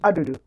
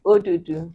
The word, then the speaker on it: odudu: Adudu. Adudu. We is odudu. Odudu. So odudu. It's only like a difference in one vowel, one syllable.